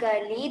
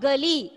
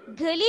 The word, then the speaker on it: गाली: कबीर कहता है यहाँ यानी कोई यदि कोई हमें गाली देता है और हम My dear, pronunciation देखिए, it's not गली, गली means street, it is गाली, okay Irene, गाली, okay read.